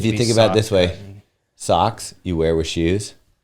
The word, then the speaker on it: Saucony: Saucony.